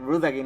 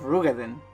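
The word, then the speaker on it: Roegadyn: and I just realized I've been saying it real again instead of rugaden so there you go I'm already saying it wrong so that's the Sea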